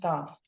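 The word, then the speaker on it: ταυ: Or with the letter T, which in Greek is pronounced Tav.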